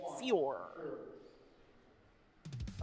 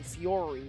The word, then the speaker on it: Fior: I pronounced his name Fiori, but he said, "No, unfortunately, I'm not that fancy." I said, "Well, just hold your pinky out. Then you'll be fancy." So, it's Fior.